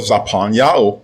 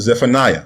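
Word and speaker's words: צפניה: Now let's go over to the book of Zapanya mispronounces Zephaniah chapter 3 and verse 9.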